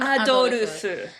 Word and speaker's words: Adolf: So we'll call him Adolfu. Because that's how they say it in the game.